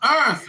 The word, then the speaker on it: Earth: I'm GNA get again it is pronounced Earth Earth th th not f f f th th